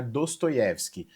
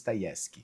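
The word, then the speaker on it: Dostoevsky: Para todos os efeitos, eu vou falar Dostoyevski, mas que a minha professora de russo, Alina, não me escute, pois a pronúncia mais correta seria Dayevski.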